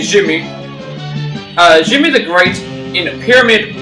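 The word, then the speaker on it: Djimmi: Jimmy the it's pretty much, well, you pronounce it as Jin. You don't say the Jin when it comes to you say it as, so this would be Jimmy.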